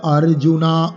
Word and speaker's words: অর্জুন: না হয় কেন বিসর্গ নেই কারণ এখানে পরন্তপ অর্জুনকে বলা হচ্ছে সম্বোধন করে নর শব্দের সম্বোধনের একবচনে বিসর্গ নেই নর আছে আমরা বলি আকার নেই পরন্তপা এবার চার নম্বর শ্লোক অর্জুনা উবাচা অর্জুনা উবাচা অর্জুনা উবাচা কথم ভীষ্মে भीष्म अहम संख्ये द्रोणं मधुसूदना